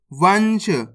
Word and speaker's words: वंश: वाम अनुस्वार की मात्रा वन, श, तो मिलके बन जाएगा वंश।